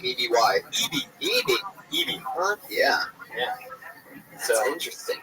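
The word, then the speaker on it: Eby: Evie.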